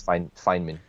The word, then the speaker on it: Feynman: to say it exactly how would you say it it's fine feinman yeah feynman is a feynman is